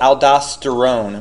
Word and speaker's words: aldosterone: hormone that's released is called aldosterone which sounds like the word Stone right so I just